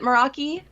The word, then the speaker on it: Meraki: a language i don't speak but i also pronounce it meraki uh it's actually got a pretty cool background